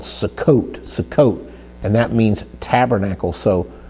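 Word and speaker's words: סֻכּוֹת: And so a plural form of sukkah would be Sukkot. And we spell Sukkot with a samach, and notice the samach, it has the kibbutz vowel marker under there. It gives us a U sound, Sukkot, and then followed by a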